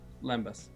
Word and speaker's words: lembas: um and graham's gonna correct me on uh pronunciation here but limbus limbus bread versus eat me cookies eat me cookies lembas no question okay explain yourselves cookies taste good